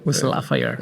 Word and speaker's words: West Lafayette: West Lafayette. Hay que pronunciarlo así. Así lo pronuncian los Hoosier, que son los de Indiana.